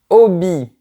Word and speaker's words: hobby: Tu vois, on peut dire un passe-temps, un loisir ou même un hobby. Le mot anglais, mais avec la prononciation française.